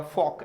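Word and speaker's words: fork: फॉक बोलेंगे। रे तो बोला ही नहीं जाएगा, फॉक, ये प्रोनाउंसिएशन हो जाएगा दोस्तों फॉक, याद रखना फॉक।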